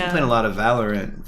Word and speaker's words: Valorant: She's been playing a lot of Valorant. Valorant? I guess. Everyone says Valorant now, but I've been saying Valorant since it came out. Yeah. And on the wrong syllable.